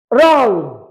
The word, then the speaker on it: wrong: ಯಾಕಂತಂದ್ರ WRONG ರಾಂಗ್ ಒಳಗ ರಾಂಗ್, G is the silent letter.